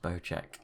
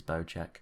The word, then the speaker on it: Bocek: bow check bow and they do say it's pronounced bow check i've seen some people debating that but it is bojack the new bojek company